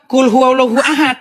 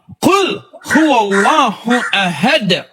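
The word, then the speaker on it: قُلْ هُوَ اللَّهُ أَحَدٌ: bacanya bacanya beginiuallahu Ahad oh salah bukan uallahu Ahad bacanya harus qu Qul huallahu Ahad allahuad harus Mad harus begitu qqalanya tajwidnya dalam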